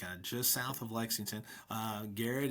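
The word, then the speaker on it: Garrard: Garrett is spelled g a r r a r d and our our website is garrett.kyschools.us.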